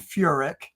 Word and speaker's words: Furek: But listen, just for clarification, it's Furick and it's pronounced Aquinus.